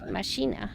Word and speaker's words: Machina: how you say it Ma Machina like DX Machina thank you this room